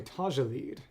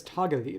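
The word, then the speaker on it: Tagelied: tag lead is a probably tajaled Okay. I was asking my father who speaks German and it is tagaled. It's a hard G.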